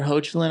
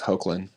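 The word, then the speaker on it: Hoechlin: are really good um Tyler hin I think is how you say his last name his Superman suits pretty solid I always thought it was Hulan and they do a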